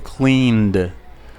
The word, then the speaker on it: cleaned: Entonces, clean, el último sonido es N. Cuando lo ponemos en pasado, el último sonido antes de ed es un sonido con voz. Vibra. Por lo tanto, voy a pronunciarlo cleaned.